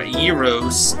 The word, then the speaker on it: gyros: had the first time I had gyros or eros as they're properly pronounced but I like saying die row because it's a cool sounding and that's literally the